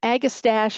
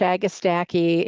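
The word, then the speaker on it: Agastache: Well, all of these I like, but um agistache, agistaki, whoever you talk to is going to have a different pronunciation.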